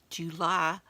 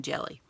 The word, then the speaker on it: Gely: And check out the hashtag GelyPostcardPlay in the, July Postcard Play. And it's spelled Jely, which is why I keep saying jelly. But it's July Postcard Play.